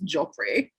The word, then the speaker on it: Geoffrey: I feel like when it's spelled Geoffrey, it's Joffrey.